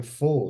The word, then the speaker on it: pho: Oh, it's It's just pho. spelled Pho. You don't even say the pho. It's just like pho, All right, okay. like fu.